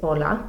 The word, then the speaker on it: hola: It's hola. Notice that you don't pronounce the H. H's are silent in Spanish.